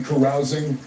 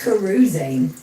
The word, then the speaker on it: carousing: First of all, I didn't know that was how you pronounce carousing. I always thought it was carusing cuz it sounds a little bit like cruising, but apparently Yeah.